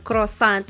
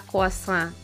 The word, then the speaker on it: croissant: sa day pronounce kwasa atin sa mga Pilipinas croissant ang pronunciation pero sa kanila kaasa Ang arte ' ba